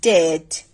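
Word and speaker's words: debt: That means সেই বি উচ্চারিত হয় না। যেমন আমরা যদি কিছু ওয়ার্ড দেখি, ডেট, ডাউট, subtle, ইনডেটেড, ডেট, ডাউট, subtle, ইনডেটেড। That means এই যে ওয়ার্ডগুলো আছে প্রতিটিতেই কিন্তু বি এর পরে টি আছে। দ্যাট মিনস টি এর আগে যে বি সেটা আমরা উচ্চারণ করব না।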